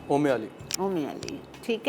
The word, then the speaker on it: Umali: ओमे अली। ओमे अली, ठीक है। अच्छा जी, ओमे अली के लिए आपको दूध हमने लिया था 250 ग्राम, 1 कप भर के।